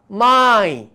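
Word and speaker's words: Mai: फुडें येता माय. Spelling कितें? एम ए वाय, इंग्लिशीन मे. इंग्लिशीन ताका मे म्हणटा आनी कोंकणीन आमी ताका माय म्हणटा.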